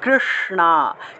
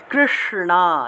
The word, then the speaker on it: কৃষ্ণ: উচ্চারণটা হলো স, স, কৃষ্ণা, কৃষ্ণা, এইভাবে কৃষ্ণা, এভাবে উচ্চারণ করতে হবে।